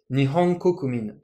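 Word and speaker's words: 日本国民: Et le peuple japonais, Nihon kokumin. Ici, on a ho, ko qui sont en haut.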